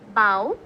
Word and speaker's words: bough: So the first one is bough, Bough. Okay, the pronunciation is bough.